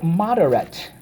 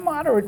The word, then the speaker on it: moderate: Mod-er-at. Moderate. Let's go. Mod-er-at. Moderate. Okay, so how do we mark this up? Underline the and the silent E twice.